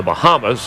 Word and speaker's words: Bahama: He's from the Bahamas, actually pronounced Bahama, North Carolina.